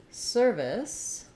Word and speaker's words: service: In service, we have first syllable stress. And the only real difference between these two is that in service, the V sound, is voiced, versus surface, the f sound, is voiceless.